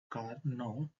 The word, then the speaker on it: Karnaugh: to simplify logical Expressions the kog pronounced as car no map was purposed for moris